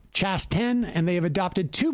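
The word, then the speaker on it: Chasten: j chavon boudijid's husband name is pronounced chas 10 and they have adopted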